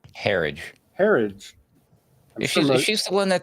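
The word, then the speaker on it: Herridge: How you pronounce her name? Herage.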